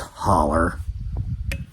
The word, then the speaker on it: hollow: me we all know it might be spelled Hollow but it's pronounced holler got to push the